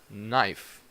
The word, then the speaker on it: knife: common sign letter because usually when you have a K in the beginning of a word you do not pronounce that K so you say knife or from the verb